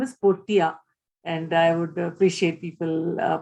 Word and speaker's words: Portea: name is meena and my company's name is portia and i would appreciate people pronouncing it as such obviously something that we